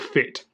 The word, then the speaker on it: Fiit: so it is fii T but you do pronounce it fit so fit is a fitness startup so we're